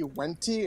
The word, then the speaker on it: Venti: What I mean, Lumos, is that Ryan kept trying to correct you, saying Venti, and you called Venti Wenti, and I'm like, that's just the Latin pronunciation.